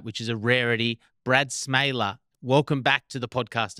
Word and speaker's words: Smeele: Yeah, it's just a weird Dutch pronunciation that I think we've always just been kind of trying to make sure people pronounce it correctly. And I think it's just, going back to my grandparents, I remember them kind of teaching us how to pronounce it properly.